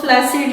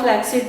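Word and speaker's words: flaccid: Term इस्तेमाल करते हैं वो फ्लैसिड या फ्लैक्सिड, दोनों प्रोनाउंसिएशन आप यूज कर सकते हैं।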